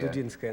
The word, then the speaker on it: Dudinskaya: Well, Dudinskaya, is that how you pronounce the name of the... Dudinskaya, Natalia Dudinskaya.